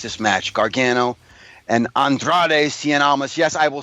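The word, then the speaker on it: Cien Almas: need to watch this match Gargano and Andrade Cen alas yes I will say his name correctly because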